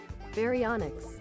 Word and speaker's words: Baryonyx: Pronunciation. Baryonyx.